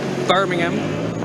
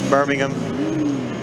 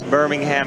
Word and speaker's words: Birmingham: I don't really think you should pronounce the H, right? It's Birmingham. Yeah, it's Birmingham. If it was the US, Birmingham, Alabama, but Birmingham, England.